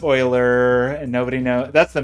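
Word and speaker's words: Euler: pronounced before because it obviously isn't pronounced the way that it looks I feel like Oiler is the classic version of that that you run into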